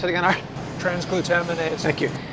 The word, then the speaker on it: transglutaminase: of freaked out about trans glute how do pronounce it again are transglutaminase Thank You transglutaminase that's actually glue usually comes from meat glue